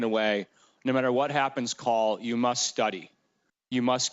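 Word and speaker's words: Kall: life I call call I call call his name is spelled k a l l but I refer to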